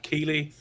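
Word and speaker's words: Keighley: forget I always get his name wrong is it Jeff Keeley yeah Sony Jeff Ryan Jr yeah Mrs uh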